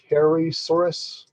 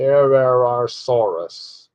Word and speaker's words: Herrerasaurus: And then we got the Hairysaurus. What is it? Herrerasaurus. Herrerasaurus.